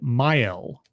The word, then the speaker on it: Mael: And he's put under 24-hour guard with this priest / sycophant, whatever, named Mael, Mael, I think is how it's pronounced.